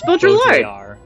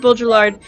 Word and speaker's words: Baudrillard: Yeah, Cole is now calling you out on the pronunciation of... It's Baudrillard. Oh, is it Baudrillard? I've always said Baudrillard, and I've never been corrected.